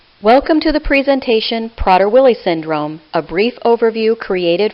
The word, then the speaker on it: Prader-Willi: safety of the individuals with PWS they serve prader-willi syndrome as it is correctly pronounced is a rare complex genetic disorder caused